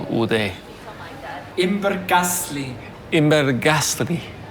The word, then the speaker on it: Imbergässlein: Imberglaslien. Imberglaslien. Did I finally get it right? I think I've been saying it wrong all day. Imbergasli.